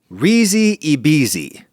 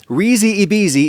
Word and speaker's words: risi e bisi: Risi bisi. Or throw a little elision in your pronunciation and it's risi bisi.